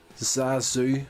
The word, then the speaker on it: ZaSu: uh basic idea of this short as uh zazu that's how you pronounce that name z-a-s-u sazu that's velma todd uh two best friends loving